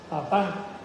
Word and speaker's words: papá: Más que no está en español, aunque así también en español se pone, pero en español se pone con acento en la A, papá.